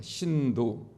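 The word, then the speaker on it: सिन्धु: 생긴 종교인 돼요 어 이 힌두 라는 말은 원래 싼 스크 l 인도 사람들이 쓰는 언어로 신 2 라고 발음을 합니다 신도 신도 란 말은 무슨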